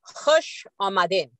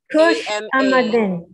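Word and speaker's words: khush amadeed: To, let's say, spell it in the way it sounds, K-H-U-S-H, hush, I think. Amadin. Kush Amadin. Kush Amadin. Could you tell them that we Kush Amadin? Kush, like a case.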